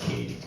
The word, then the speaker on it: Keating: I'm going to let her know, so it's pronounced Katie.